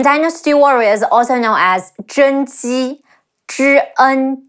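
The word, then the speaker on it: 甄姬: In Dynasty Warriors, also known as Zhen Ji, Zhi En Zhen. Ji Yi Ji, Zhen Ji.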